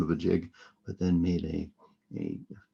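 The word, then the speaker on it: gigue: the first one is jig which is french pronunciation for a jig which means it's going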